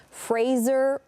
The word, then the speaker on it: Fraser: on there saying that his last name is actually pronounced Fraser rhymes with razor.